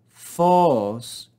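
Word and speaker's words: φῶς: Ein, to, phos, phos. Circumflex accent on the omega, rise and fall.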